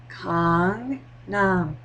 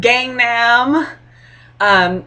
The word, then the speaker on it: Gangnam: like please sit down let me explain this pronunciation to you Kong n Kong n Kong n Kong Nom Kong n Kong not gang n um and some of my